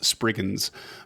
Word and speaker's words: spriggan: As far as I know, no specific emphasis on the first or second syllable. Okay. Uh but it's not spriggan, which I've said for I don't know how long, but it's spriggan.